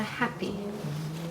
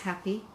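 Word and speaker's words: happi: more formal garments and that is called the happy it's spelled h-a-p-p-i it's a much shorter garment to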